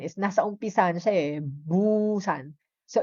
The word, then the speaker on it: Busan: Busan is Busan, letter B. Yan ang spelling niya. Yan yung consonant niya. B, Busan. Okay? Kasi may iba kasi they pronounce it as Pusan. Pusan. Pero hindi po siya magiging Pusan kasi nga nasa initial sound yung letter na yan.